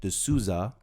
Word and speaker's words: D'Souza: We're reacting to a video from Dinesh D'Souza. I said it right this time. Last time I said D'Souza, and you guys gave me hell last time.